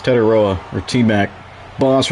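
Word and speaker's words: Tetairoa: It's Ted Iroa, or T-Mac.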